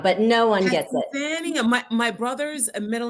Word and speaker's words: Hassannia: My guest, Hassannia. Close enough. It's Hassannia, but no one gets it. Hassannia.